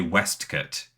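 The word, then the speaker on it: waistcoat: like that but also the way everyone pronounces the word waste coat in this thing they say West cut so it's very very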